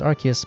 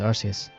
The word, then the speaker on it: Arceus: It was Arceus. I know it's supposed to be pronounced Arceus, but I really prefer and grew up with Arceus.